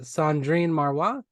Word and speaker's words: Cendrine Marrouat: to be clear um your name is pronounced uh Sandrine marwa is that wow very good Wow